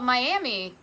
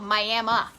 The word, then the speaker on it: Miami: see it and you're gonna say oh it's called miami uh oklahoma no it's called miami so be like one of the cool kids pronounce it correctly even though during this